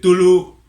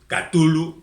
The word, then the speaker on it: Cthulhu: La gente puede decir Tulu, Cthulhu, que no sé muy bien a qué obedece, pero a mí siempre me ha parecido más amenazador Tulu, aunque no esté acentuado gráficamente.